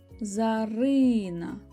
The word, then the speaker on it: Зарина: р і н а Зарина наголос паде на и ділимо на склади за